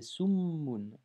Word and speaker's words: summun: C'est pas sumun, mais c'est summun.